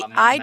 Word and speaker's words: manhwa: HUA is Chinese. Oh, okay. HWA is Okay. See, manhwa. Just WA is Korean. I just assumed that anytime you say that, it's all spelled the same, but it just is pronounced different.